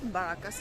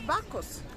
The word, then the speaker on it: Bacchus: It's not Baracus, it's Bacchus.